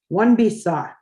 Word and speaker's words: wanabisa: One bisa. Again, some of the vowels that are in there are silent. The way it reads is awane bisa, but the way we would pronounce it is one bisa.